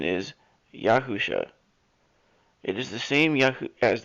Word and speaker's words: Yahusha: if this seems familiar it is the correct pronunciation is yahusha it is the same as the yahusha the